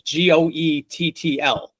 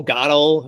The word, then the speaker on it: Goettl: Because it's Goettl, right? I've heard that name said to me 50 different ways, like, oh, Gottel or, Geetle, like no one knows how to actually pronounce it.